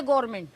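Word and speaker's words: government: ये बिक गई है गवर्नमेंट. सही समझा आपने. काफी लोग इस वर्ड को गवर्नमेंट बोलते हैं, काफी लोग गवर्नमेंट बोलते हैं, बट एक्चुअली यहां पर जो एन है वो साइलेंट है.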